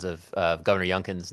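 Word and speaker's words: Youngkin: And, uh, we've had a number of pronunciations of of Governor Yncan's name today.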